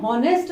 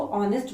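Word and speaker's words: honest: ऑनेस्ट, ये हॉनेस्ट नहीं है, ध्यान से पढ़ना है इसको। दिस इज नॉट हॉनेस्ट, ये जो एच है ना ये साइलेंट रह जाता है, इसको ऑनेस्ट बोला जाता है।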